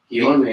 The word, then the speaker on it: Guillorme: Guillorme.